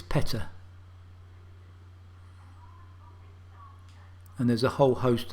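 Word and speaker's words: Pettaugh: and to be honest i've always called this pet off but no it's peta and there's a whole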